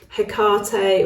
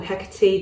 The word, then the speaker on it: Hecate: So for example, Isis, Hecate or Hecate, depending on how you like to pronounce it and spell it.